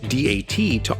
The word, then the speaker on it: DAT: works but was renamed d-a-t to honor its three financial backers that in japanese would be pronounced datto which means with the